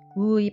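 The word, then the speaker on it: う: 우의 발음은 우리나라의 우보다는 의에 가까운 발음입니다. 입술을 너무 앞으로 내밀지도 말고 힘을 빼고 가볍게 발음해 보세요.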